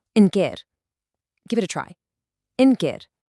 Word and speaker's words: ընկեր: In Armenian, that's ընկեր, and it's pronounced ընկեր.